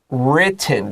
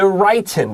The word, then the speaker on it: written: present perfect tense 现在完成时这个是 written 短 I 不是 written that's wrong 我知道 write 原形动词有那个长 I 的发音 write 这个是 written 你写下来这个是短 I 的没有错，这些发音的这种细节跟重点要特别注意一下哦。它这边的话 written 不要忘记，老师特别提到这个是 written。好，而且 T 的话有2个 T。